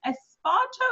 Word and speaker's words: Esparto: And today, I have the amazing Kim Esparto. Am I pronouncing it right? Yeah.